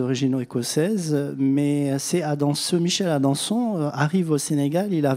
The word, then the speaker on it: Adanson: Comment on prononce Adanson, parce qu'il est français. Oui, il est français. Il prétend qu'il est d'origine écossaise. Donc, dire Adanson.